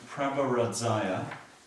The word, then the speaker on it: Prabharadzaya: Then Prabharadzaya. So here it's 2 separate syllables. Prabha, Radzaya means King of Light.